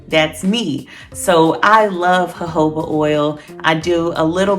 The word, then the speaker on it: jojoba: the jojoba oil so that's the way it's pronounced jojoba not jojoba i made that mistake when i first started